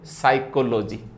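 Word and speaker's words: psychology: बात तो क्या है, पी साइलेंट है, तो साइलेंट यानी मतलब फोन नहीं आ रहा है, यानी साउंड नहीं, साउंड नहीं तो सिंबल नहीं, सीधी सी बात है। तो आपके सामने कहां से आया, से देखो साइकोलॉजी। अब बोलते अपन साइकोलॉजी, लेकिन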